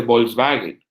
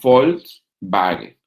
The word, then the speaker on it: Volkswagen: Volkswagen no se dice Volkswagen. En alemán se dice Volkswagen, porque la V es F y la W es B.